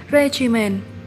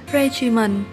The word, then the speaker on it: regimen: Từ số 25, chúng ta có danh từ là regimen. Ngoài ra thì từ này còn có một cách đọc khác là regimen. Và cả hai cách này thì chúng ta đều nhấn ở âm 1 nhé.